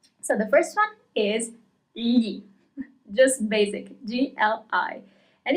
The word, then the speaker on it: gli: So the first one is li.